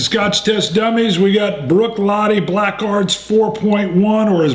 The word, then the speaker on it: Bruichladdich: We got Bruichladdich Black Art's 4.1, or as Bruno says it, Bruichladdich. Bruichladdich. Something. And Gaelic pronunciation problems.